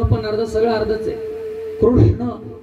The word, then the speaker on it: कृष्ण: अर्धा सगळ अर्धच आहे कृष्ण म्हणण सुद्धा खूप कठीण आहे कृष्ण शब्दाच उच्चारण एवढं सोपं नाहीये क आणि त्याला रुकार कृष् आहे शमृगाच नाही षट्कोनाच श कळाल का त्याच्यामध्ये जिवानीय शब्द